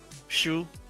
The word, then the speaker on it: Xu: Shu. This it's an X, but you pronounce sh.